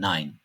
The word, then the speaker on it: Nein: E ve i harflerinin kombinasyonu da "ay" şeklinde okuyoruz. Örneğin "Nein, Mein".